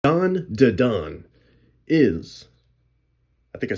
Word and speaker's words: Dan Da Dan: Don Da Don. Yeah, that's how you say it.